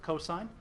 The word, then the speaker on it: cos: Our abbreviation for cosine is COS. We pronounce it cosine.